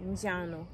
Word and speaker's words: njano: So yellow means is pronounced njano.